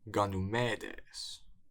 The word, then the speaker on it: Γανυμήδης: It's Ganymedes or Ganymede.